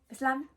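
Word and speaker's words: بسلامة: So goodbye is literally just Bsslama. And I couldn't quite get that one right. you can definitely go to Google and see, they'll actually have audio where you can see how it's pronounced, but the, you know, whole kind of emphasis on the B messed me up a little bit.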